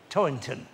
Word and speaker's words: Toynton: It's a difficult surname to pronounce with that T sound in the middle, but I think I got it right. Toynton.